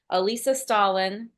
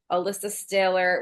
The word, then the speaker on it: Alissa Stahler: I remember like, like Alyssa, they mispronounced my name so many times. They've tried to fix it in post. I got Alissa Stalin, I got Alicia Stalter, Alissa Stahler, whatever. The Allison, whatever.